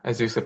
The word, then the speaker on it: Azusa: I'm very pleased again to be with Joshua Rasmussen, who is an assistant professor at, is it Azusa? Is that the pronunciation? Yeah, Azusa Pacific.